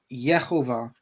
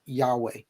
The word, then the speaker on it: Yehovah: So this was how the Masoretes understood the name of God to be, was that it was Yehovah, not Yahweh. Not one manuscript in Hebrew, uh, in any Hebrew manuscript, do we have the name Yahweh.